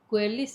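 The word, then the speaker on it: geulis: Gunung Gelis atau Guelis ya. Itu yang aku ituin, tahu nggak? Gelis. Nggak tahu deh apa namanya. Ya, gelis itu memang ejaannya G-E-U.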